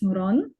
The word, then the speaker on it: Nuran: Yes, that's how you say my name, or you pronounce it. It's Nuran. Nuran.